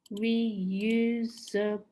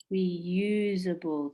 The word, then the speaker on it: reusable: it's an adjective and reusable four syllables which one is strong reusable the second syllable so this is dealing